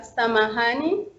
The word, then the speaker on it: samahani: And then we have samahani. Then you see again the word intonation is on letter H.